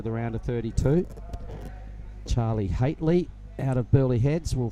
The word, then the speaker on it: Haitley: Haitley is how you say Charlie's surname.